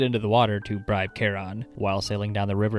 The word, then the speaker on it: Charon: Charon, as in the ferryman's name, is so phonetically close to Karen, who wants to speak to your manager, I kinda understand why they're all so dead inside.